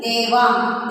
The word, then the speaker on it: Devang: D-E-V-A-N-G. How do we pronounce that name? Devang.